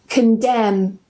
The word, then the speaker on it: condemn: Autumn, column, gam, hymn, and yes, this is pronounced the same as him, condemn, and the last one, government.